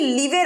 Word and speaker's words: leave: LEAVE, লিভের অর্থ হচ্ছে ছেড়ে চলে যাওয়া এবং এটার উচ্চারণ হচ্ছে লিভ, একটু টেনে।